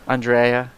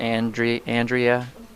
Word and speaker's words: Andreae: Andreae, you know, it's like instead of Andrea. But Andrea is the way that my parents pronounce it.